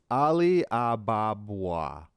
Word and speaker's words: Ali Ababwa: How do you pronounce it? Because I never really paid attention back in the 90s Disney. It's Ali Ababwa.